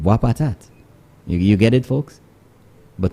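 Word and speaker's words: Boispatat: out of the ordinary if you say wapat but for somebody who doesn't know the little idiosyncrasies you know and they see it written down b-o-i-s-p-a-t-a-t they'll say boys not understanding that b-o-i-s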